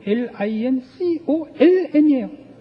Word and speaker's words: Lincoln: 링컨이라는 단어가 Lincon이 아니고 Lincoln이에요. 몹쓸나라 말이죠. 발음도 안 하는 철자는 왜 갖다 집어넣는지 모르죠.